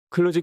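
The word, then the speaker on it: kludge: 발음을 유도하는 단점이 있다 클루지 클루지를 제대로 발음하자면 슬러지 슬러지지가 아니라 휴지휴지 거대한 애 가깝다 몇몇 사람 들은이 단어가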